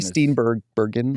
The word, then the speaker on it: Steenburgen: Charles Mary Steenburgen, is that how you say it?